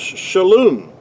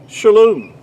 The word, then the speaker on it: Shalom: would be uh which in modern Hebrew the word Shalom but in ancient Hebrew that word was pronounced Shalon the that letter the